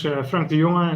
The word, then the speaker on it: Frank de Jonge: My name is Frank de Jonge, as Frank correctly pronounced.